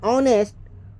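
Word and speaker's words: honest: ऑनेस्ट लिखते हैं, आ लिखते हैं, शुरू होता है अंग्रेजी का वर्ड्स एच से, लेकिन उच्चारण में लिखते हैं ऑनेस्ट, स्वर ध्वनि से प्रारंभ होता है, इसीलिए एन का प्रयोग होता है।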